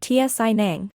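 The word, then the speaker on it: txiv neeb: For example, Tsivnib a Hmong shaman is improbably enough. Pro Nu said Tsi Nang. What happened to the V? What happened to the B? Where did the ying come from?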